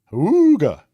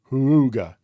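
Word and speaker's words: Houga: is called the iboya Huga that's the only way I can pronounce it it's h o u GA a Huga and it reminds me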